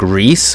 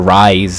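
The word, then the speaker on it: Reiss: last name, which is, I thought they were going to pronounce it like Reese, but they pronounce it like Reyes or something like that, or Rise.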